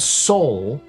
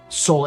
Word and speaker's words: Sol: It should be called Sol, like Sol, S-O-U-L, but CIG seems to be pronouncing it as Sol, as in S-A-U-L, but spelled S-O-U-S-O-L.